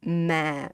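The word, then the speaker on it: má: If you say ma, it's similar to this. You have to say ma, ma. Give it very low.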